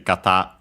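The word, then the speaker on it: 型: I think it's actually kata on its own. Yeah, it is accented on the last syllable.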